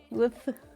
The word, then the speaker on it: wolf: Woof. Woof. Yeah, woof. Woof. I never noticed that you say wolf like that. You don't pronounce the L.